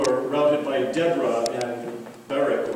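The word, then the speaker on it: Barak: rounded by Deborah and Barrett or Barack um if you want to pronounce that way then the midianites whom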